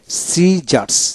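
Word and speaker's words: scissors: এস আই পি এলই disciple disciple তারপর আসেন সিজারস caesar S আই এস ও আর এস সিজারস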